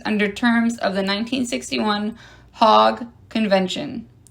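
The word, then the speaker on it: Hague: in in parentheses under terms of the 1961 hog convention h a g u e I swear that's how you pronounce it Archbishop in the Roman Catholic faith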